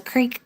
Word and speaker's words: creek: Craig says crick is a Pennsylvania thing. I've heard people say crick. I don't know where they were from. It's a creek to me. I mean, it is spelled with two e's.